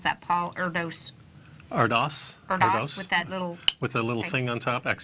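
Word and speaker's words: Erdős: How do you pronounce that, Paul Erdos? Erdos.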